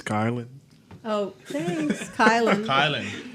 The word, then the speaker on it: Kailin: So, Kailin and Malachi, welcome to the show. Welcome. We're just keep going. Thank you. Howdy. So, we're going to go ahead. What? It's Kailin. Oh, thanks, Kailin.